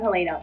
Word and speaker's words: Helena: Hi, I'm Helena, pronounced Helena rather than Helena or Helena as us Australians like to call it.